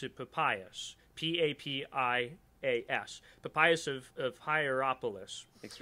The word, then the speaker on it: Papias: Now, this idea emerges very early on with this dude called, I believe you pronounce it Papias, Papias, Papias of Hierapolis.